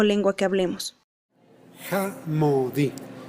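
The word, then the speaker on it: jamädi: Jamodi. Se escribe J-A-M-A con diéresis, que es un sonido de O. Homodi. D-I. Jamodi.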